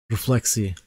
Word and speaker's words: Refleksy: b you Slack but I believe it's pronounced reflexi reflexi who actually came from